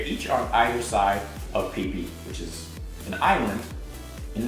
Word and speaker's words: Phi Phi: Everyone in Thailand pronounces it Phi Phi, which is kind of funny, but that's how it is.